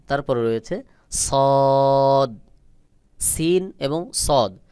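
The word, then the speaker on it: صاد: রয়েছে সদ সিন এবং সদ সদের আওয়াজ গোল মতো করে উচ্চারণ হবে যেমন দেখুন সদ সদ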